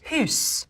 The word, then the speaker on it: house: The word for house would be pronounced hus.